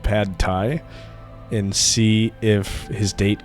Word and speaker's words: pad thai: restaurant, but he would pronounce it pad thigh instead of pad thai and see if his date corrected him.